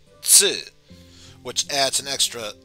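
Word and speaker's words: ツ: And the second exception, instead of Tu, it's Tsu, which adds an extra S sound and pronounced with less of an emphasis on the T portion.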